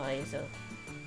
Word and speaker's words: Hazel: Me llamo Hazel. The first letter of the name is not going to be pronounced.